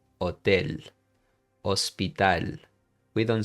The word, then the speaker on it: hotel: So you would say hotel. Okay, you don't say el hotel. I'm exaggerating, of course, but you you got the idea. You would say hotel hospital.